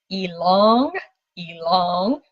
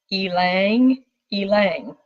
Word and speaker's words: ylang ylang: looked it up and the correct way to say it there's actually two ways you can say along along or Alang Alang so it helps me